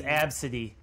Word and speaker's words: ABCDE: what is you know how do you pronounce it they said the name was absentee ABCDE yup like the alphabet is a kind of